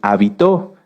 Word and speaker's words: habitó: muchas definiciones de hecho si cambiamos el acento de la palabra hábito lleva acento en la a se refiere a esto a nuestras costumbres y si lo cambiamos hacia el final es habitó que viene de habitar fíjense que como en